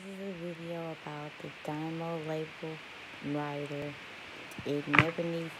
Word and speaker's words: DYMO: label printer so i heard the best was dynamo and that's how you pronounce it and it's a label writer i